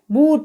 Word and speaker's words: boot: इसी प्रकार से है BOOT, तो यहाँ पर भी डबल O के बाद T दे रखा है, तो यहाँ पर जो डबल O है उसका भी उच्चारण ऊ के रूप में और लॉन्ग साउंड के रूप में होगा। तो BOOT को हम क्या पढ़ेंगे, बूट।